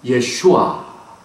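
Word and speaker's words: ישוע: 뿌리를 교회들에게 메시지를 증거하셨습니다 원래 우리 예수님의 이름도 지저스 지저스 하지만은 히브리 발음으로는 예슈아 그 예아가 무슨 뜻입니까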